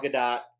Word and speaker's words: Gadot: scale gal gadot piece she says to pronounce the t so i do what she says but gal gadot jnd one third scale